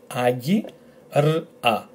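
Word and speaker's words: άγκυρα: We have letter A, and the emphasis will also be on that letter. G, which is our combination, E. So agi, agi, r, a. Altogether, agira, as if you're saying lag and Iraq, but without the L and the K. Lag, Iraq, agira, agira, which is an anchor.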